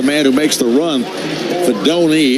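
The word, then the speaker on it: Fidone: That's Fanoni. And Fanoni, the tight end, is the man who makes the run. Fedoni is how you pronounce it.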